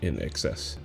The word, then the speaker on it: INXS: 8X INXS yeah and it's like the word like in excess in excess yeah but like you